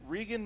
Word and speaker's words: Regan: Regan McNeil in 1970. It's pronounced Reagan and Linda Blair.